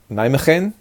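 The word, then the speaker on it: Nijmegen: that I have are from a town called nain McCain it sounds pronounced on the G in Dutch is like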